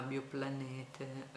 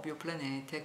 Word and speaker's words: Bioplanete: la ditta si chiama Bioplanete, io pronuncio la tedesca perché i proprietari di questa ditta producono per lo più in Francia, però sono tedeschi, questa è una ditta tedesca.